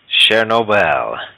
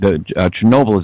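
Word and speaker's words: Чернобыль: Do you know how to pronounce wormwood in Russian? Chernobyl.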